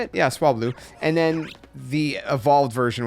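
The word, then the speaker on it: Swablu: Yeah, Swablau. And then the evolved version, which I always forget how to pronounce properly.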